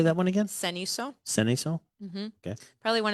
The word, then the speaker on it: cenizo: cenizo.